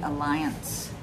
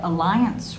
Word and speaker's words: Allianz: I highly recommend the Alliance. I don't think I'm pronouncing this right, but it's ALLIANZ, like zebra.